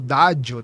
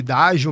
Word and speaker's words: Daggio: Então, esse nome também traz essa essa pronúncia mais italiana, que pode ser falado como dádio também, né? Mas aí a gente leva mais para para essa linha de raciocínio de dádio mesmo, que também tem o